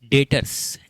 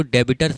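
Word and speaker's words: debtor: देखो अ सातवां term डेटर्स and creditors र्स देखो कुछ लोग इसको डेबिटर्स बोलते हैं। डेबिटर्स नहीं होता है। डेटर होता है। बी साइलेंट होता है।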